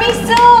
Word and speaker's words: Mixue: Bacanya mie kue apa misu?